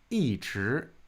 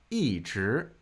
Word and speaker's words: 一直: Some people will pronounce this 一直. It's a little less common, but 一直, there's something called an E-tone sandy, which will amend the tone on E depending on the subsequent tone.